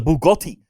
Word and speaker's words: Bugatti: it this is a Bugatti I did not rent this Bugatti no you're up you're saying this and you're pronouncing the tea you can't pronounce the T bro I'll pronounce anything however